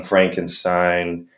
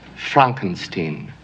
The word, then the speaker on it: Frankenstein: of SPO with his young Franken sign it's pronounced Frankenstein Dracula dead in loving